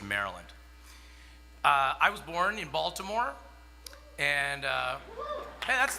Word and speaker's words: Baltimore: I was born in Baltimore, and hey, that's not every day that you hear.